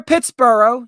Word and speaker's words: Pittsburgh: easier for you uh you're going to see up there Pittsboro yes I know what I'm saying Pittsboro that's how it's supposed to be pronounced but as yers butchered it you're gonna see Pittsburgh up there uh it was